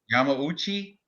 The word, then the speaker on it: Yamauchi: how do you say his name Yami right Yamauchi yep okay you're the J you're the Japanese